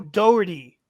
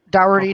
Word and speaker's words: Dougherty: the category of star trek how does admiral doherty die in star trek insurrection robert did i say it right sorry to interrupt but i just want to make sure so i don't confuse him yep dougherty dougherty you got it right okay five four three